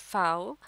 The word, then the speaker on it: Pfau: Ruth Katrina Martha फाओ pronounced फाओ lived through the calamities of world war टू।